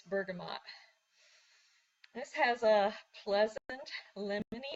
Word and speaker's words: bergamot: Gonna talk about bergamot oil, and I have to consciously go bergamot because for some reason I want to call it bergamot, and that is not the correct pronunciation. It's bergamot.